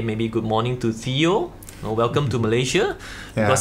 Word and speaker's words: Teo: I am Theo, or you can call it like the proper pronunciation is Theo, like Theo Ice, Theo which Ice, is quite yes.